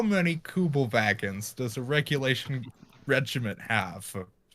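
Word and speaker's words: Kübelwagen: this is not something you were doing so good with the german pronunciation until you got to vagan that's i i don't care you know how it's like wagner it's not wagner right you know it's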